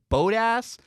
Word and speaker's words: Bottas: on tv they say bodis so i'm going to say um but i'm told that's wrong people say it's boat ass it's not a customer i promise um